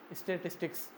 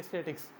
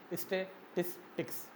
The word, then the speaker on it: statistics: और दूसरी तरफ है स्टैटिस्टिक्स। इसको ज़्यादातर जो क्विकली प्रोनाउंस किया जाता है वो इस तरह से किया जाता है कि स्टैटिक्स, इस तरह से पढ़ते हैं।